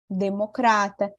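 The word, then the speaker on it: demócrata: seria aristocrata burocrata Democrata em espanhol a sílaba tônica vai mudar né não vai ser mais lucrar ser em português e vai ser aqui na sílabas que eu coloquei em então em espanhol eu vou dizer aristocratar lembra que o outro fechadinho não era estoqueta aristocrata burocratar democrata viu como que muda né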